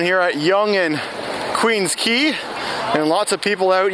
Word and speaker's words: Quay: And the word key is spelled not in the kind of the same way that you would spell the key that you would put in the door to unlock it. In this case, key is spelled Quay.